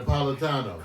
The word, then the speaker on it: Napolitano: Napolitano.